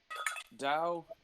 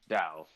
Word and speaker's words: Tao: tao and dao uh dao is the way you pronounce it tau is the way it was um translated into english spelled for some reason yeah but it's it's pronounced dao but they're the same